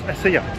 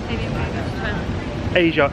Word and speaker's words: Asia: And he went, no, that's ASEA. Asia spelled with a Z. So A-Z-I-A. No, it's not. Asia is A-S-I-A.